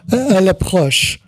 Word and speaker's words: elle approche: It's like Elie approche. Oh, she approaches. Oh, elle approche.